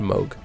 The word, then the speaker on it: Moog: it Moog No yeah it's spelled move but I guess it's pronounced mogh I don't get it